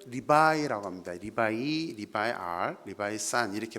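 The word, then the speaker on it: 礼拜: 중국어 발음으로는 리바이라고 합니다.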